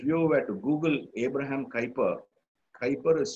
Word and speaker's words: Kuyper: If you were to Google Abraham Kuyper, Kuyper is spelt as K-U-Y-P-E-R.